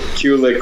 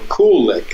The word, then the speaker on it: Kulick: Kulick or Kulick, as in I play cool licks, you know. Oh, okay, Kulick.